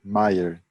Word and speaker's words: Meier: costumo chamar de Maier, mas pronunciei seu nome, Maier. É Wilhelm Maier.